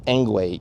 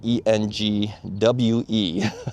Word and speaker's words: Engwe: It is Engwe, e n g w e.